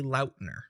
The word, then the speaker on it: Lautner: It is technically Lautner. So you can see like all the interviews, he's always like called himself Taylor Lautner.